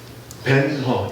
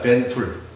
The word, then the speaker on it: 벤허: 벤허, 이건 영어식 발음이고요. 히브리식으로 하면요, 벤훌입니다. 벤훌.